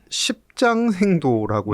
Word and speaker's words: 십장생도: 네, 이게 십장생도라고 네, 해서 발음 조심하시고.